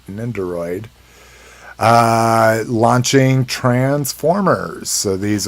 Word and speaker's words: Nendoroid: nindoroid is that i i always pronounce it nin droid but i miss this o in it ninderoid uh launching transformers so